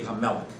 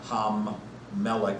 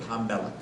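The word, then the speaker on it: הַמֶּלֶךְ: We have the king, but there'd be Hamelech, not Ham-Melech or Hal-Melech, but in their pronunciation, they merged that into one word, Hamelech.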